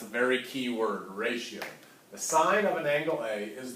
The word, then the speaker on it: sine: SI in you know please don't say sin I might pick on you a little bit all right it is the sine of angle a alright it is spelled